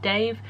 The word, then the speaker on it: Dev: It's spelt Dev but pronounced Dave, so I was listening